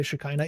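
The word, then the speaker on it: Shekhinah: Dwelling in his um shikina. Uh cuz I always get made fun of by Jews whenever I say shakina even though it's the proper English pronunciation.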